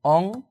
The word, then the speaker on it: অংশ: এই অংশ শব্দের প্রমিত উচ্চারণ হচ্ছে মূলত ঠিক এরকম অংশ সু অংশ।